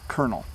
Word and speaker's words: colonel: is how you pronounce colonel. So if you know of someone in the army who is a colonel, just pronounce it like a kernel of corn.